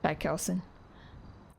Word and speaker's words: Chaikelson: Patelson.